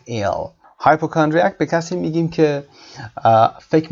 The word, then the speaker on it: hypochondriac: hypochondriac تلفظش رو دقت داشته باشید. hyper صدای شو دارید اینجا، chondriac استرس روی کا و صدای ا در انتها.